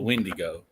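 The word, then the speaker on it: Wendigo: south you know so we call it the windy go so it's a little bit I guess pronunciation difference but same same creature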